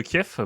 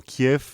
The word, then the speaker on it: Kiev: est fautif parce que j'ai appris récemment que cliffs est elle la façon une chrétienne de prononcer le nom et kiev la façon russe et que en ce